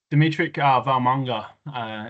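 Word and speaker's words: Demitric Vaimauga: Yeah, Dimitri Valmunga is how you pronounce it, mate.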